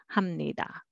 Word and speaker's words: 합니다: And next, 합니다, but together, 합니다, 합니다. Sounds familiar, right? So this one, when you say 감사합니다, spelling is 합니다, but nobody would say that way. You always hear 합니다.